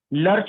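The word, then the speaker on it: lurch: लर्च में are silent हो जाएगा जब हम इसको बोलेंगे, लीव यू इन लर्च।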